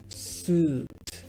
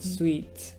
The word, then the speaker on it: suit: En inglés se dice suit, not sweet. Suit. Ya, esto creo que en general los estudiantes lo saben, pero lo pronuncian como sweet. Ese es el problema. Siempre dicen sweet. Suit.